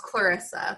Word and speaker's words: Klariza: It's pronounced Clarissa, but I'm sure that there are many pronunciations of the name.